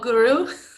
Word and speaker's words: gwrw: Is ala igeo pint o gwrw ysgwelwch yn dda.